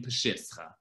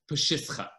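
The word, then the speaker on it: Peshischa: a new community in Peshitscha. The you'll see this spelled differently, but in Yiddish it's pronounced Peshitscha, Peshitscha.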